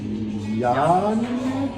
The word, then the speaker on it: Janega: And he's like, YAN-uh-guh? They're like, we'll spell that with a J.